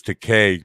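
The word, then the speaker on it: Takei: yeah yeah um uh tom says to k pronounce that like gay uh george corrects people with that himself yeah uh so i got his name on takai to k uh whatever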